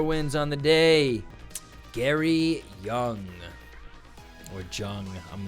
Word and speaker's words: Jung: on the day Gary Young or Jung I'm not sure that's normally that's pronounced young because of Carl Young but we'll see actually